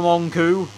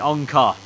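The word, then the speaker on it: Öncü: corner fast that for wan-koo mister Bava pronouncing wrong it's actually own car on car I feel like um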